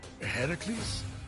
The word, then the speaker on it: Heracles: thing with your voice Heracles yeah that that is how it's supposed to be pronounced seems like a lot